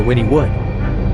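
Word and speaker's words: Wynnewood: I had to call the bank to ask how to pronounce the town name, Winwood or Winniewood. She said, Winnie Wood, thank you.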